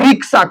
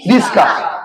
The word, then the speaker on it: রিক্সা: কি, এই বলি তো, ছিল রিক্সা হয়ে গেল কি রিস্কা, তাহলে র প্লাস হর্ষই প্লাস ক প্লাস দন্তেশ্ব প্লাস আ, অ্যাকচুয়ালি প্রপার কি ছিল, ক এর